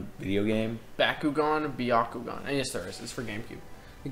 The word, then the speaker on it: Byakugan: gone game Byakugan if you were music to Byakugan that's how they say it in the show